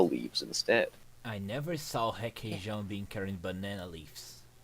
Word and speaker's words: Requeijão: Requeijão. Hakesh? Wait, the R is pronounced like an H?